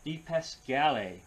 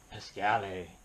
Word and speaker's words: DiPascale: And the artist on this one is Michael DiPascale, or DiPascal. Pick your pronunciation. Go with the Italian, Pascale.